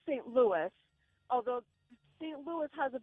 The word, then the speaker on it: Louis: The name can be read two ways, either Louis or Louis. However, Louis is originally a French name, which makes the correct pronunciation Louis.